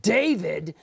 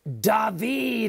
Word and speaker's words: David: portion of cave-in okay his name isn't David it's dahveed okay that's how to rest